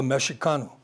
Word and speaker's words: Mexicano: And the X in the Nahuatl language is pronounced like a C, like a CH. So Mexicano became Mexicano, and that's really all it is.